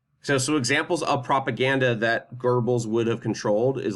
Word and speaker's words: Goebbels: This is Joseph Goebbels, or Goebbels. It's pronounced Goebbels in German. There's like a silent R in there.